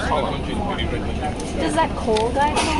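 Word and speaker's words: Colm: But it's pronounced Colin.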